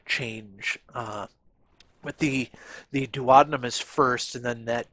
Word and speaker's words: duodenum: units so there's is the duodenum which i've also heard pronounce uh duodenum or duodenum but i tend to pronounce it duodenum and so if that's not your preferred pronunciation then you'll just have to i guess kind of bear with me so there's